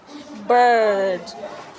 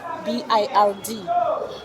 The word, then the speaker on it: bird: It is spelled as B I R D. The I in that word makes the sound. It is the same word you it is the same sound you have in G I R L which makes you pronounce